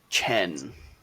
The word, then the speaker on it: Zhen: was Jackie, Jackie, and his last name was Zhen, and he pronounced it Chen. So it's Jackie Chen.